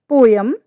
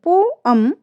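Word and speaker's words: poem: पोएम यह हमारा wrong है। एंड पोयम यह हमारा राइट प्रोनंसिएशन है।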